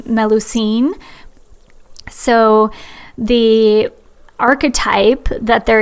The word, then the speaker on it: Melusine: And fun fact, the Starbucks mermaid with two tails is from the legend of, I think you pronounce her name, Melusine.